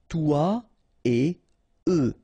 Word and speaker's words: toi et eux: Toi et eux. Alright, so no liaison, even if it's a bit tempting because it would be possible, but then no.